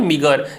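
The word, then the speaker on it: meagre: इसका प्रोनाउंसिएशन होता है मिगर या स्केर्स हो गया या इनसफिशिएंट हो गया।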